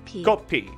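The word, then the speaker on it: 커피: It's not coffee, I'd say. Kopi.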